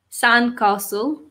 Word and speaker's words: sandcastle: So we have shark, sandcastle. So the T in sandcastle is silent, and lifeguard.